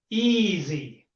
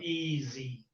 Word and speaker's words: easy: They find it very difficult to say the sound z, easy. They say it as j, right?